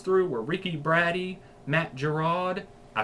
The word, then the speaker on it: Giraud: The next ones through were Ricky Braddy, Matt Giraud.